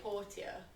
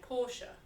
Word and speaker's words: Portia: so someone's asking if it's pronounced with Portilla Porsha I say poor Tia but other people say Porsha when I spoke to the devs they said we're happy for people to pronounce it however they like because everybody's got different